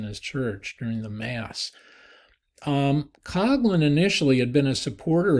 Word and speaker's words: Coughlin: It looks like it would be Coughlin from the way he spelled it, but he actually pronounced it Coughlin. Coughlin was priest at a large Catholic church outside Detroit.